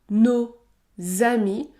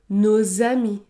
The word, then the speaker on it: nos amis: dans le cas de nos amis je dois effectuer la liaison le S se prononce et produira le son Z Z nos amis nos amis nos amis la liaison est obligatoire